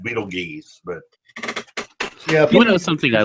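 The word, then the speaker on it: Betelgeuse: The only one we uh might be going soon is Beetlejuice. Beetleju. Beetle three. Which is that's in the the constellation of Orion. Yeah. Beetle. It's actually pronounced Beetle geese, but you know something I love.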